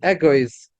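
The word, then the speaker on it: אגוז: But the aleph is not sounded, because we don't pronounce the aleph.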